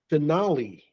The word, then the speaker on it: finale: try finally finally okay I could see how that could look like finally but it's not finally all right okay the pronunciation is finale Denali okay Denali all